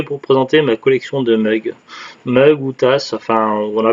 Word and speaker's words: mug: présenter ma collection de mugs. Mugs ou tasses, enfin on a plus tendance à le prononcer comme américain, mug, et puis en même